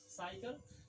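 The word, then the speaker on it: cycle: ये आपको याद रखने योग्य बात है कि सी के बाद अगर ये रहे आई ई वाई रहे तो सी को स पढ़ेंगे।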